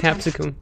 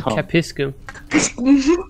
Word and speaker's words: capsicum: Yeah, and you couldn't pronounce capsicum. Capsicum. You said capiscum.